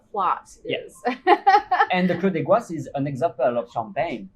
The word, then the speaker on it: Clos des Goisses: So that's what we saw yesterday, and I always pronounce this incorrectly. Cloche. Clos Clos de Gloire. Clos des Goisses.